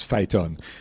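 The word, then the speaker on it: FITUN: We are 72 years old, and I'm also the president of the Federation of Independent Trade Unions and NGOs, which we pronounce as FITON, which is the federation to which the Oilfield Workers Trade Union is affiliated in Trinidad and Tobago.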